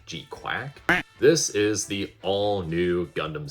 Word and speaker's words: GQuuuuuuX: Basically, it is the first 3 episodes of the upcoming Mobile Suit Gundam GQuuuuuuX, which is apparently pronounced G-Quack? G-Quack?